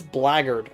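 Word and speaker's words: blackguard: much worse have you oh it's blaggard okay I forgot that that's how that word uh is pronounced have you heard of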